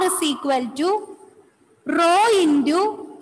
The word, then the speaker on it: rho: So here the equation is R is equal to rho. How it is pronounced?